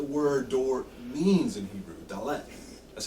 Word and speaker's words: dalet: that's what the word door means in Hebrew dalet that's how you say it you'll notice in